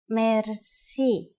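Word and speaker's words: мерси: Merci. Merci is a loan word from French, but it is pronounced with the typical Bulgarian hard R.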